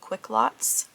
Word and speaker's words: Quicklotz: There is Quick Lots, and that is spelt with a Z, so Quick Lot Z, Quick Lots.